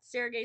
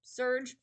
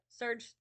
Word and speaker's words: Serge: We got Sergei Storms, or I've been told that it's supposed to be pronounced Surge. It's just, Surge Storms. But it just doesn't look like how we normally spell it.